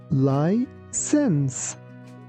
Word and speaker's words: license: Here, be careful that letter C sounds like S. So, we say license.